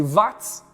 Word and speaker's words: Watt: Na verdade se pronuncia Watt, né?